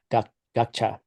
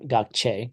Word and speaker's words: gakcha: Gakcha. Gakcha. Yeah, it's not gakche. Gakche would either be Yes. gakche. So it's just gakcha, right?